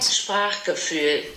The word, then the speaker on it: Sprachgefühl: the English language is Sprachgefühl. So that's how I say it in my Kiwi German, and this is how it's pronounced on Google Translate. Sprachgefühl.